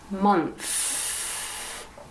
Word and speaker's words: month: what month is it month m o n t h so this sound th i stick up my tongue mon month crazy english